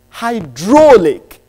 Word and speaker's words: hydraulic: word is in truth it's got their three syllables but the lexical stress is on the second syllable structure its hydraulic hy they are and